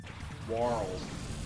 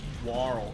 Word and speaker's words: Warl: Warl. Like Carl. Warl. Warl.